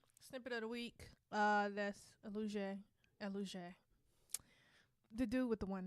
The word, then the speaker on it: Elujay: This is, how you say his name? Elujay. Elujay with blue. Elujay. You just said it right the first time.